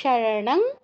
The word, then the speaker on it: শরণং: ভয়ার্তাস, ভয়ার্তাস শরণং, অনুসারের পর গ আছে তাই ঙ হসন্তর মতো উচ্চারণ হবে।